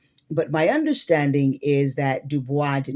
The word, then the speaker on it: Du Bois: correct way but anyway most of us do say uh web dubois or some who are of the intellectual sect those who are deep within the the African diaspora culture they usually say his name uh dubis like voice.